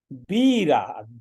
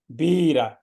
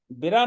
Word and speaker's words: बीरा: बीरा, बा पर दीर्घ है तो हमें जोर से कहना है बीरा, बिरा नहीं बीरा।